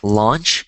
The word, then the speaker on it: launch: So, this one is like launch and then the one that you eat is lunch. So, notice how the A and the the A with the U changes um when you have the A and the U as opposed to the U. So when it's just the u when you're eating it, it's called lunch like l. But then when you have l a u you have law launch.